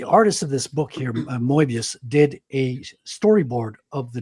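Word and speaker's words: Moebius: You're saying you're saying it wrong. It's Mobius. Moius. Mobius. Moius. Say say Mo and then say mobius. He's French. Patrick, you tried.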